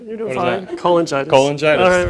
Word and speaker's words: cholangitis: He has research interests generally in viral hepatitis, liver transplantation, and something I can't pronounce. Primary sclerosing. Oh, yeah, that's right. You're doing fine. That? Cholangitis. Cholangitis.